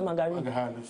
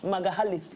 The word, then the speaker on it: Magalhães: Now, Magalhães or Magari? Magalhães. Yes. Magalhães.